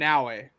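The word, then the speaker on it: Naoe: You can let me finish the sentence and then you can tell me how to pronounce. It's Yasuke. Yasuke and Naue. There we go. Naue.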